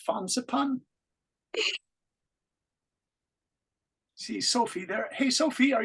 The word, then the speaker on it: Fansipan: you say the name of that mountain it's fansipan Sophie there hey Sophie are you there how